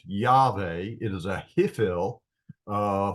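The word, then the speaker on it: יהוה: of God is this right here it is pronounced yve it is a hiil uh form of the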